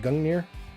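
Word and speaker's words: Gungnir: an artery right there spelled Gung near yeah like that sounds pronounced right it's pronounced Gung near it's like that's like a a Norse thing right I think anyway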